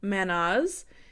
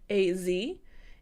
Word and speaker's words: Mannaz: Next here, we have Mannaz, and this is spelled Mannaz.